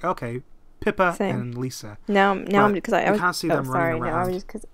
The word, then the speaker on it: Pippa: the oh Lisa yeah I totally pronounced it I thought it was pepper I thought it was Pepper too Alex that's just his accent at work it wasn't until I saw it written out I'm like okay